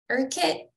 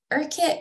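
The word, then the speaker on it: Urquhart: next up we have erkit I think is how at least the the British say it erkit Castle um and this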